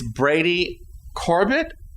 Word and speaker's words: Brady Corbet: Reddit user rayj uh for this clip it's Brady Corbett Corb Corb Corb the French pronunciation yes anyway this film is nominated for